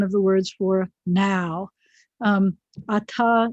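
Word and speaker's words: אַתָּה: The definite direct object marker is et, spelled with an aleph and a tav.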